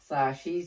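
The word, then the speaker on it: つ: অনুসারে শিখেছি যেমন খা খি খু খে খো সাি সু সে একটা ছন্দ আকারে ছিল তাহলে এখানে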